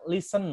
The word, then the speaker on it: listen: itu kan atau mendengar listen bacanya listen bukan listen ya please setelah kelas ini